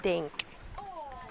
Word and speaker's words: dink: I want to get the stink eye from my brother, so I'll say dink. Sounds like tink. Rhymes with tink.